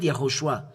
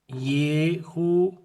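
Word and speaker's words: יההושֻׁע: This is how to read Yahushua. To write Yahushua. Yod, He, Hu, Shin, and Ah. This is Joshua. This is Joshua, Yahushua, Yahushua, or Joshua. This is Josué, and as well Yahushua.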